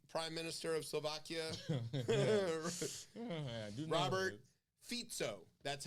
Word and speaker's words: Fico: minister of Slovakia Robert fito that's how you pronounce it it's not FICO like your credit score it's fito fito yeah spelled FICO tried